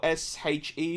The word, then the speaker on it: Sith: else is mispronouncing yeah Kate Sith Sith or s-h-e or s-e-e is pronounced she in um in Gaelic it basically